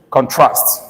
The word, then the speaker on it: contrast: Because in terms of correct pronunciation of the word as a verb, it's contrast.